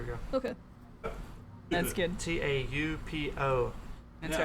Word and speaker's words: Taupo: I say Taupo and Topo. You said it okay, but it sounded like you put an R at the end. It's Topol. Topo. Topo. There we go. Okay. That's good. Taupo.